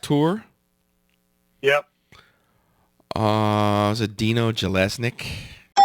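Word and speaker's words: Jelusick: Uh, is it Dino Galileic? Yes, that is correct. Jallesnik producing.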